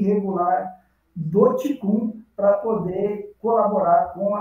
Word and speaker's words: Qigong: A pronúncia seria Qigong, e principalmente com Tai Chi Chuan.